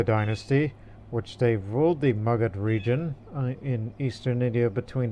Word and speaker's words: Magadha: That's the Magadha region, this area here. I've heard some people pronounce it as Magadha, but I've heard in Hindi or Bengali or Bihari language pronunciations of this area is Magadha, even though it's originally